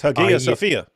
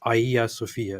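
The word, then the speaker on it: Hagia Sophia: would be like uh it's ha Sophia no it's Aya Sophia it's like no it's not they have they have an H yeah it starts with an A that has an aspirate breathing that makes it an H it's wrong with you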